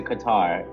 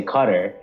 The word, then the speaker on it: Qatar: Somebody told me it's the British that say Qatar, and like, yeah, oh, that's right. Always, yeah, they're always trying to like make us Americans say Qatar, and I'm like, I think Qatar is closer to how, you know, you say it in Arabic.